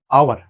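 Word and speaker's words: hour: আওয়ার, এটা কিন্তু হাওয়ার না, এটা হবে কি আওয়ার।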